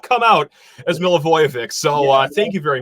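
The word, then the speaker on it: Milivojević: question uh gentlemen how on Earth do you pronounce your last name what it it's milovic mil aoic mil ayic I am so sorry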